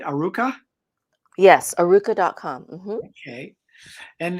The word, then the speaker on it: Arukah: So tell us a little bit about, am I pronouncing it right? Aruka?